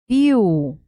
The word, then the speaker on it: viu: Não é viu, é viu. La, sílaba, la letra más fuerte es la I.